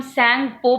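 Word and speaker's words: Tsangpo: इस वर्ड को हम सैंगपो पढ़ेंगे. टी से स्टार्टिंग होती है लेकिन टी साइलेंट है.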